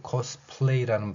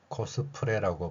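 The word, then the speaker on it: cosplay: 이 코스플레이라는 발음을 할 수 있음에도 불구하고 코스프레라고 발음하는 것을 볼 수 있습니다.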